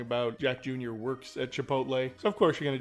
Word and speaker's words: Chipotle: other day was saying it's a rumor a Chipotle is the pronunciation yeah the other day was saying I